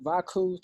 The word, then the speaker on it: Vaku: Then the KU is pretty much an artistic blend between cuckoo and chaotic.